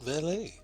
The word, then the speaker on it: valet: I can press you know the word valet. Yeah. There was a Eastern guy in the gladiator pits. He talked about him all the time. You didn't pronounce the T.